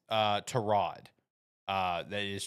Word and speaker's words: Tyrod: Uh that is Trod is how you pronounce it. Baker Mayfield. Uh yeah, Baker Mayfield clarified that when he was asked about Trod, and he said, "Well, first off, his name is Trod, but he's too nice